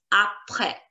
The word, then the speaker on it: après: Last letter S silent. Après, après, après, après, après.